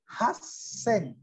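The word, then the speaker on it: はっせん: 8.000 ini pengecualian lagi, haseng. Haseng. Ya, haseng.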